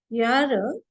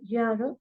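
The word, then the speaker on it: Jahre: But here, if you say, see, J, you have to pronounce it as yo in German. It is not Jo. So it is ich bin dash dash dash Ihre art.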